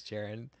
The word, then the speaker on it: Jaron: This, actually, I was thinking about the title earlier today, but my name is Jaron. Pronounced. Said like Jared, but with ON instead of ED.